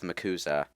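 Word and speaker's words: MACUSA: do they actually call it muuza the muuza muuza is how they pronounce the acronym yes we could risk we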